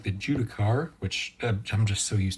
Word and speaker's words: Judicar: He comes on the big fancy Necron sprue like the Judicar, or as it was pointed out, might be pronounced Judiciar, like judiciary.